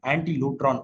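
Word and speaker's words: ἀντίλυτρον: Ransom அப்படின்னு சொல்றது வந்து அது கிரேக்க பதத்துடைய வார்த்தை அதோட வார்த்தை வந்து ஆன்டி லூட்ரான் அதோட உச்சரிப்பு எப்படி இருக்கும்னா ஆன்டி லூட்ரான் அப்படின்னு சொல்லுவாங்க.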